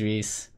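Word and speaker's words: Rhys: you know you're right his name is Reese Rees F but it's not spelled like normal Reese it's all this you know R RH Ys like what yeah so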